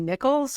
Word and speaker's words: Nichols: bring my guest Nichols her name rhymes with pickle just like Elaine phase